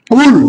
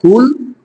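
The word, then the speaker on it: قل: থেকে কুল আলু থেকে কেউ যদি কুল শক্ত করে বলে তাহলে হল বলা বলুন আর যদি নরম করে বলে কুল তাহলে এর অর্থ হয়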